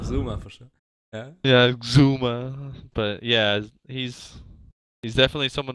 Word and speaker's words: Xuma: Sure that that's the right pronunciation of Xuma for sure. Yeah. Yeah, Xuma.